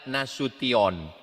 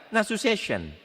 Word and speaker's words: Nasution: Cara membacanya nasution. Ada pula pembawa acara yang baca nasu session.